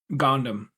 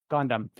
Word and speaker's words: Gohndim: Gohndim. Gohndim.